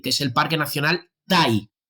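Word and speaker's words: Taï: es el parque nacional taii se escribe t a i el parque nacional tha es una selva primigenia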